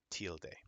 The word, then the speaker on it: tilde: we call an exit Mark a tilde t-i-l-d-e till day okay now foreign I'm going to do one